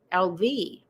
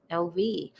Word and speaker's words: LV: Try saying LV, accent on the V for grandmother name. LV, LV.